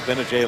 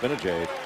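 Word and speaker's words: Gbinije: know they had michael benajay last year and trevor cooney yeah uh you know been a jade you know that's spelled it starts with a g i do the g is silent i was there for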